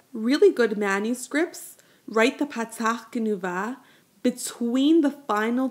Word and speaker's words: patach genuva: But with a patach Genuva, the vowel is pronounced before the consonant, no, ach. Notice that the patach is sounded before the chet.